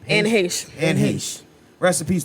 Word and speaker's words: Anne Heche: Anne Heche.